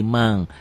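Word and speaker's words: من: nun mati ketemu mozal tulisannya man man ditulisnya nggak ada g-nya ditulisnya dibacanya ada G nya jadi mang mangsa Min syajarin hukumnya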